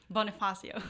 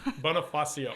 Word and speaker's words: Bonifacio: Well, anyway, so I asked to be on, pronounce your last name. Bonifacio. Bonifacio.